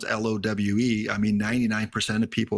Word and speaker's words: Lowe: Like LOWE, right? Like in baseball, sometimes it's like Derek Lowe. And then what's the other pronunciation? Lau? I guess isn't there a player it's basically love is what the name is. Okay. I thought there was one that spelled LOWE that pronounces it Lau or something like that.